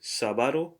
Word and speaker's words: sábado: Notice there's an accent on the A, so sábado. That's the syllable where you have to put the accent.